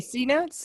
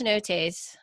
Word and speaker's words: cenotes: You mean C notes or? No, it's pronounced cenotes, and it's a spring mineral water pool, and then it kind of flows.